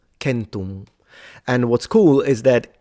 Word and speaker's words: centum: And then the C was a K, and so it would be pronounced kentum, kentum.